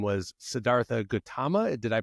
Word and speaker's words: Gautama: don't know, the Buddha's actual name was Siddhartha Gautama. Did I pronounce that correctly? Gautama.